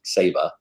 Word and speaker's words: Saba: well first of all i've been chastised it's pronounced saba yes it is save a rock uh well since seba is a rock in the middle of the